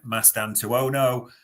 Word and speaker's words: Mastantuono: And we've talked, and I'm probably going to pronounce it wrong again, Mastantuono.